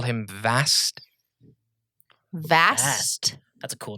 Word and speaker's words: Vast: call him vast vast vast that's a cool name with a V yes like vast opportun vast opportunities like Vash but not spelled the same or spell sounded the same vast vast Victor Alpha